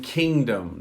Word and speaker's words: kingdom: going through hello ukraine do we pronounce g in kingdom no you don't it's swallowed we say swallowed kingdom kingdom now i say it's swallowed because it influences how you pronounce the letter n so g is important because it influences the n sound but we don't produce the g kingdom good question all